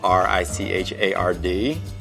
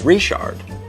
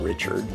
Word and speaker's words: Richard: If someone's last name is Richard, it's Richard. It's not Richard.